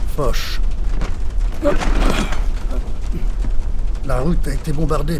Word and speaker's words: Foch: Le nom de monsieur le maréchal, doit-on le prononcer Foch ou Foch? Foch.